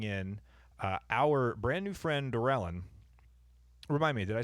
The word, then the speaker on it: Dorelyn: But we did manage to bring in our brand new friend, Dorelyn.